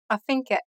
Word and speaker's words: affinché: Affinché. It ends with an acute accented E. This E sound is more like the one in the word né.